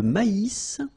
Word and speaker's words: maïs: L'avoine, le blé, here, accent aigu, et le maïs. So here you get this tréma, so maïs, maïs. And then you pronounce the final S, maïs.